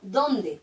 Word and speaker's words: dónde: verla y es que se pronuncia distinto en donde con tilde se pronuncia con más fuerza me pregunto dónde vivía fijaros comparar me pregunto donde vivía la casa donde vivo ese donde casi no sube entonces si yo me